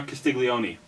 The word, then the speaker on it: Castiglione: My pick is, hopefully I pronounce his name right, Joseph R. Castiglione, who is the committee chair.